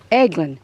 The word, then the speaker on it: Eglin: It was flying from Eglin, not Elgin. I always say it wrong.